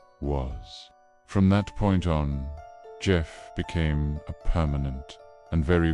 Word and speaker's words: Gef: The voice told them its name was Gef, pronounced Gef.